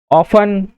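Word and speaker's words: often: T silent कहाँ होता है, लिसन, ऑफन, कासल, इसी प्रकार से क्या है यहाँ पर टी साइलेंट।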